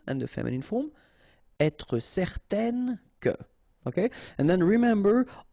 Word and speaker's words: certaine: Okay, so it's nasal in your nose, un. Okay, if you add this at the end, then it will change the thing, and then you will pronounce it n.